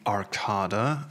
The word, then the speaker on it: Arcada: Okay, so here we are on the Arcada. I was told that this is actually how you pronounce it.